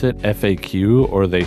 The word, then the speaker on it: FAQ: whether they pronounce it FAQ or they say it facts and I think anyone who says it facts is lying to themselves because it's an abbreviation so you're supposed to say the letters it is an FAQ